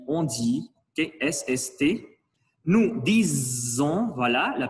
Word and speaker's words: disons: Nous disons, voilà la prononciation du S.